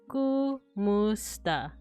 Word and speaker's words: kumusta: Kumusta is correct. I say it as kumusta. Yeah, I've heard it as like with the A.